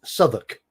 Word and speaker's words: Southwark: It's like Southwark in London is pronounced Southwark.